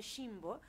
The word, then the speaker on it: Ximbo: oye raro, pero bueno, en realidad se dice Jimbo, esa es la palabra, pero claro que he sido advertida 1,000,000 de veces que aquí se puede confundir.